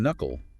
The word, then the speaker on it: knuckle: The K in knuckle is silent.